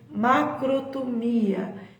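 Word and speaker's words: μακροθυμία: A raiz dela é do grego, de uma palavra que ela se pronuncia assim, macrotomia, que significa tolerância, paciência e perseverança.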